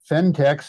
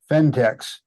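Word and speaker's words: Phentex: eBay and you type fentex and the name is spelled pH N eex fentex Craft and slipper yarn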